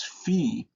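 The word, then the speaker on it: phi: and then the next letter is fe and this is the way it is written but it has a ph sound like phone fe phone and then the next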